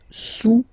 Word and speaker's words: sous: Le cube est sous le cylindre, okay, le cube est sous le cylindre. Don't pronounce the final S, and then this OU combination of vowels is pronounced OU, okay? Sous, sous.